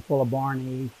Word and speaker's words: fuelleborni: here oh so uh i pronounce that terminal eye on full of barney as a long e because that's a latin ending and that's how latin is pronounced uh i know i'm